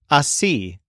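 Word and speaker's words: así: add even more description one of the handiest is the word AI which means this way I have done it this way this word is spelled ASI with an accent mark over the I it can actually be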